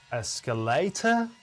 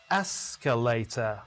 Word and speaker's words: escalator: Many students pronounce this word as escalator. Many others pronounce it as escalator. And the answer will reveal in 3, 2, 1. The first syllable is stressed, not the second or third. Escalator.